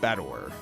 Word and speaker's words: Battler: It's made up of the characters for fight and person, and it's pronounced Battler.